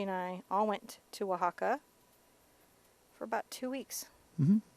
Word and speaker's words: Oaxaca: your background color cameras from says hello from Oaxaca Mexico oh my gosh I've been to oaxaca